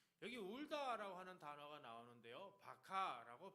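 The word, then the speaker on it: בכה: 여기 울다라고 하는 단어가 나오는데요, 바카라고 발음하는데 조용히 눈물만 흘리는 정도가 아니라 마음이 완전히 무너져서 슬픔이 터져나오는 울음을 의미하는 겁니다.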